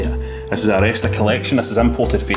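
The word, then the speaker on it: Aleste: Well, see, I used to call this game a list, right? I've called it a list. But I believe it's pronounced Aresta. That's how you're meant to say it. This is Aresta Collection.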